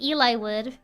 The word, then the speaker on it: Eliwood: Oh, I always pronounce it Eliwood. Because of the name Eli.